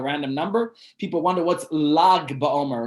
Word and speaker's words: Lag BaOmer: People wonder what's Lag BaOmer, or something say Lach BaOmer, because the G in this country is pronounced as Ch. But it's not Lach BaOmer, it's Lag.